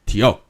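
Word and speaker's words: tío: putting uncle is Teo this is Tio oh the emphasis and there's a little accent is on the O Okay um okay translates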